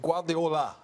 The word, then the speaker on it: Guardiola: I'm trying to say his name right, but Guardiola.